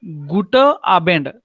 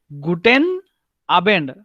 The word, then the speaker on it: Guten Abend: So you should not say Gute Abend. No, Guten Abend. So N, the pronunciation you have to do it, even though you speak very quickly. Guten Abend.